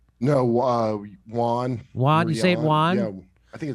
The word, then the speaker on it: yuan: uh juan juan saint juan i think it's juan yeah juan and not u.s dollars see what the pronunciation is yuan uh and not us